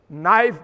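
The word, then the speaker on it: knife: नाइफ में पहले के लिखा जाएगा, लिखो, बोला नहीं जाएगा, साइलेंट है, चुप रहो।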